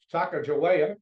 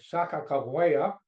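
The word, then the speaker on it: Sakakawea: North Dakota we have Saka joa that's how I pronounce it they they say Saka CA then we have William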